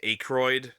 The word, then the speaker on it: Aykroyd: Pronounced Aykroyd.